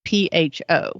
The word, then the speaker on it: pho: It's not pho, it's pho, and it's kind of like ramen.